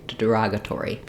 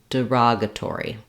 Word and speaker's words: derogatory: but rather derogatory derogatory so even though it's short and unstressed it still is that tense e sound this is a great word to start start to practice by starting on the stress syllable so that you can get the relative rhythms and vowels correct that would sound like saying rogatory derogatory that can really help you get that first uh syllable to be unstressed and have a reduced vowel you can also try